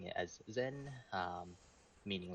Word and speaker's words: SEN: Nova um and we're generally lean towards of pronouncing it as Zen um meaning like you know thoughts absorption or